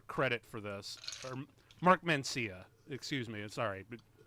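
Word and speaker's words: Mancina: No one talks about the score, and the guy who did it, Mark Marcia, deserves a lot more credit for this. Or Mark Mencia, excuse me. Sorry, butchered that.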